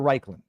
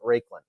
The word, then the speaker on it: Raiklin: Mexican right no well is your last name is raikin or rikin uh either one but um most of the time I pronounce it raiklin all right and I